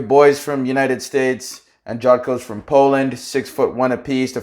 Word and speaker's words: Jotko: Jotko.